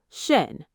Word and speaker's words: schön: It's very similar to the French u sound if you know any French. Try with the word now. Shen.